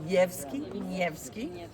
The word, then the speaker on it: Nevsky: In Alexander Nevsky, please. If you corrected Valentina for her pronunciation, please correct them.